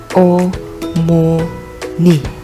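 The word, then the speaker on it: 어머니: Cara membacanya adalah o mo ni, yang artinya ibu.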